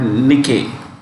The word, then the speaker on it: Nikkei: index at tokyo stock exchange index is called nikkei n i k k e i okay now